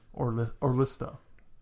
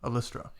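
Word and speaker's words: Ollistra: But I most notably remember her as Orlista. No. How do you say it? Alystra.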